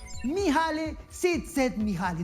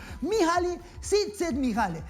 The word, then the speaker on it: Mihaly Csikszentmihalyi: Mihaly Csikszentmihalyi. No me he equivocado, amigos. No. Estoy pronunciándolo bien. Lo he entrenado mucho tiempo. Mihaly Csikszentmihalyi.